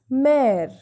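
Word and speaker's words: mère: brother so this excellent this axial graph has the sound of a that is why we are pronouncing mare pair and frere this accent comes on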